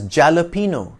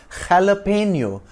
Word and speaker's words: jalapeño: slice it correctly it's jalapeno with a hearty to start that's because in Spanish the language from which the word has come into English J is pronounced like a throaty h a bit like the